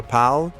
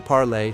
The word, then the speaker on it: parle: For je, tu, il, elle, ils, and elle forms, the verb sounds the same, even though it's spelled differently. Je parle, tu parles, il parle, il parle. Je parle, tu parles, il parle, il parle. They all sound like parle.